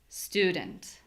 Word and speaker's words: student: So I'm not saying stew dent. I'm saying stew. D. That vowel sound is super unclear. I don't even know what vowel it is.